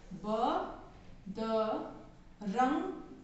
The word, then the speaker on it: बदरंग: इसी तरह children second number में लिखिए ब द रंग। र के ऊपर अंक की मात्रा है तो इसका उच्चारण होगा रंग।